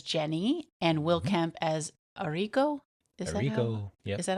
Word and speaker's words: Arrigo: It stars Tori DeVitto as Jenny and Will Kemp as Arrigo. Is that how you pronounced it?